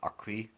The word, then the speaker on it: acquis: There's what 32 chapters of the EU acquis, that's how you pronounce it.